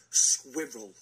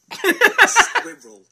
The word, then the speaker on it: squirrel: this is the word it is simply squirel squirel that's how you say it it's got an r in the middle yeah squirel how else are you